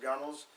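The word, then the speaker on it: gunwale: um point out that the gunnels looks like gun Wells but pronounced gunels is the top any place basically where water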